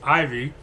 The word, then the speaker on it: Ivey: And, I understand that my family spells it funny, but it's not Evie, it's Ivy.